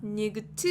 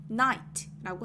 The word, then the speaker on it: night: 뭐라고 하나요 나이츠라고 하고요 느 아이까지는 다 소리가나요 소리가 나는데 gh는요 소리가 나지 않아요 그러니까요 소리 때문에 우리가 night나 니거트 이런 소리로 잘못 내면 안 됩니다 night라고 하고요 여기는 소리는 나지 않지만